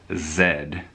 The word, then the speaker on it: Z: videos that is so I've got to make sure that I go for the English pronunciation this is the power cushion comfort Zed and these in the